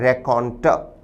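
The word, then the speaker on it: raconteur: उच्चारण है रेकॉन्टर।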